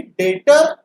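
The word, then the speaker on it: debtor: सबसे पहले समझिए कि डेटर एंड क्रेडिटर ये एग्जैक्ट राइमिंग वर्ड नहीं है डेटर हम लोग जब बोलते हैं वहां पे बी साइलेंट होता है राइट अब क्रेडिटर और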